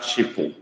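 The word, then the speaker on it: chịpụ: You try to write the meaning of that chipo, okay? But that, I mean the spelling rather, but it's spelled C-H-I-P-U.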